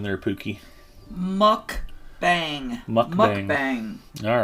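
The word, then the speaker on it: 먹방: pronunciation there pookie mukbang mukbang all right actually it's spelled out like muk mukb but it's mukbang mukbang okay that's the correct korean pronunciation how would you know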